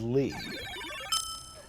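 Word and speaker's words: Leigh: is your middle name my middle name is lee jess ross he got named twice well it's spelled differently l-e-i-g-h taiyo what is your middle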